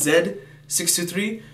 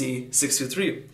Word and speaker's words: Z623: as you pronounced here in Canada and many parts of the world is Zed 623 and for the Neighbors down south in America uh they pronounce it as z623 so this is a